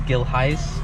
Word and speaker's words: Gilheis: how to pronounce it so uh it is gil heist it is dutch my dad is dutch